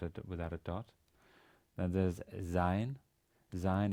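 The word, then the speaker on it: Zayin: Zain is a voiced S. So just like Z, as in zoo.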